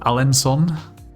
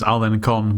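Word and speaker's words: Alençon: Um, and we will stay in this place called Alensson. I thought this was Alen Con, but supposedly this little squiggly thing under the sea means it's pronounced as an S.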